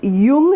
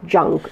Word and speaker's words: Jung: It is pronounced Jung and not Jung.